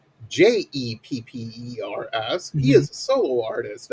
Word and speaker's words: Geepers: And then in parentheses, pronounced Jeppers.